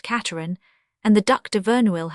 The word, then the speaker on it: Casterans: The intimates who came to play their game of cards of an evening, the Troisvilles pronounced Treville, the La Roche-Guyons, the Casterans pronounced Cateran, and the Duc de